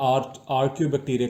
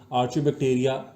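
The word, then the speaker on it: archaebacteria: हम उसको जो है आर्क्यू बैक्टीरिया का नाम देते हैं, आर्क्यू बैक्टीरिया का नाम देते हैं। दो वर्ड्स हैं बेसिकली ये प्रोनाउंसिएशन के हिसाब से, आर्क्यू भी है, आर्च्यू भी है। आर्च्यू बैक्टीरिया, आर्क्यू का मतलब होता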